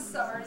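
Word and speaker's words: Somers: It's Mrs. Summers, and it's spelled S-O-M-E-R-S.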